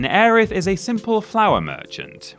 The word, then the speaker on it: Aerith: aerith Gainsborough Final Fantasy VII we've talked about the shocking and untimely death of aerith Gainsborough or Eris Gainsborough if you want to get the other pronunciation about this in previous lists but honestly